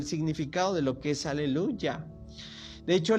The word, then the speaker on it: aleluya: de lo que es aleluya de hecho la pronunciación más cercana es como una y común aleluya porque tiene que ver